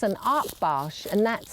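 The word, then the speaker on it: Akbash: without a canine companion like Lily it's an art barge and that's spelled a k b a s h and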